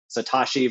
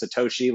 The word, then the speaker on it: Satoshi: from a clickbaity perspective they're saying satachi versus Satoshi like we know what he means why do we have to make fun of him for maybe mispronouncing the name I don't know just